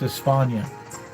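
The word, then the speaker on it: España: e-s-p-a-n-e yes ate p-a-n-i-a-n i think espana because that's how they say it in spain it's espana but here in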